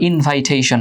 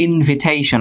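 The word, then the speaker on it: invitation: যেমন হচ্ছে তোমার ইনভিটেশন, এটা তোমরা অনেক উচ্চারণ করো ইনভাইটেশন, না এটা হচ্ছে ইনভিটেশন।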